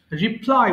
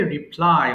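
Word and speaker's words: reply: আচ্ছা এবার বলো হচ্ছে রিপ্লাই উত্তর দেওয়া, হ্যাঁ? এটা কিন্তু উচ্চারণ হবে রিপ্লাই, অনেকে ভুল করে রিপ্লে বলে ফেলি, কিন্তু এটার সঠিক উচ্চারণ হবে কি রিপ্লাই।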